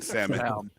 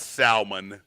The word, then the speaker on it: salmon: same color hey man the l is silent in salmon not where i'm from sir i don't know where you're from but it's it's not salmon you're from jeremiah he